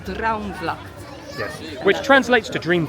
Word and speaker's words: Droomvlucht: Yeah, it's not Droomvlucht, it's Droomvlucht.